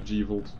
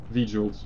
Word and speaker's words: V-Jolt: are saying you can make Rebecca make the G-Volt. V-Jolt.